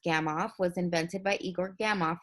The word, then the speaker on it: Gamow: grunted at the noodles a gamma flag pronounced gamma off was invented by Igor